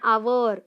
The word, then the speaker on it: hour: And hour. Now we didn't say hour. Hour.